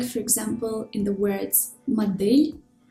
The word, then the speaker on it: модель: example in the words модель, флешка, степлер. In these words, the consonants D, L, T are pronounced hard, even though they are followed by a soft vowel.